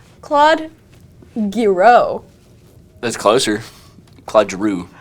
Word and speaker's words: Giroux: Claude Giroux. Drew. Yeah. Drew. Like Andrew, pretty much.